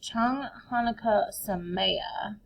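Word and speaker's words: Chag Hanukkah Sameach: It's Chang Hanukkah Sameya. So this is how we spell it.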